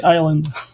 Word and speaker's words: island: do you guys say Island you know it's like the S is silent how can s be